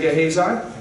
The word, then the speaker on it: Gehazi: Say Gehazi. Gehazi. Not Gehazi. That's how you say it.